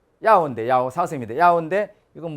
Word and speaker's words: 要: 요자가 발음이 어떻게 됩니까? 要 예. 야오인데 야오 사슴인데 야오인데 이건 뭐 요자가 필요하다 중요하다